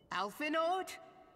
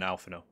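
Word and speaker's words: Alphinaud: you are mistaken oh alphenord min philia and seven hells master garland you don't pronounce the d in alphano and you dear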